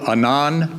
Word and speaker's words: Anand: I'm going to introduce to you Anand Patel. There's a flyer on your tabletop. I know that the name ends in a D, but the D is silent, okay? It's pronounced Anand.